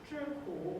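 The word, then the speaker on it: 吃苦: The first 2 characters here are pronounced "turku," which means to eat bitterness or to endure hardness, hardship.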